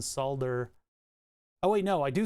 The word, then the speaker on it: solder: be enough energy though I refuse to produce to pronounce the L that's your own prerogative but I do not subscribe I would like to unsubscribe from the pronounce the L in solder oh wait no I